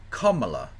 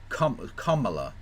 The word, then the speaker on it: Kamala: You can, yeah, so it's pronounced Kamala, as in like comma. Kamala.